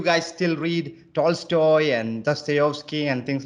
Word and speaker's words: Dostoevsky: And How do you pronounce it? Dostoevsky. Dostoevsky. In Russian, it is Dostoevsky.